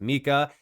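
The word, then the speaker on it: MiCA: Last but not least, yes, it's pronounced Mika.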